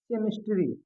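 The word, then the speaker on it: chemistry: उसके बाद में अगर यहीं पर मैं एक शब्द और लेता हूँ, सपोज दैट, हाँ, ये आता है आपका केमिस्ट्री।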